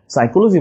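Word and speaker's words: psychology: কিন্তু P extra okay সাইকোলজি বানানটা মনে রাখবে পিসাই চলো যাই বা পিসি চলো যাই এখানে কিন্তু পি এক্সট্রা নিউমোনিক আমরা আজকে যে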